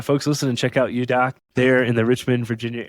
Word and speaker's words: Eudoc: It's spelled EUDOC. The idea is it comes from the Greek prefix eu, right? So state of good well-being, euglycemic, euthyroid, things we use in medicine a lot, and then doc for doctor. So the good doctor, or doing medicine the way it should be done. And then the pronunciation is Eudoc, being you and the doctor with no middleman.